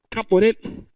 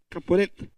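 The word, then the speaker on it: כפורת: En hebreo, el propiciatorio se llamaba, o se pronuncia, Caporet, Caporet. En hebreo se dice Caporet.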